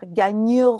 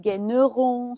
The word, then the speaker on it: Gaigneron: Hasta en Francia hay diferentes maneras de pronunciarlo. Uno puede decir Gagneron o Gagneron. So, entonces, no, es un nombre que es duro pronunciar.